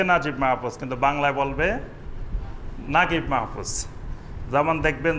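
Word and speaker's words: Naguib Mahfouz: উচ্চারণ হবে হানি ঠিক আরবেরা মিশরী লোকেরা লেখে নুন জিম জিম ইয়া বা নাজিব কিন্তু উচ্চারণ করে নাগিব এরকম আরবের বিভিন্ন আঞ্চলিক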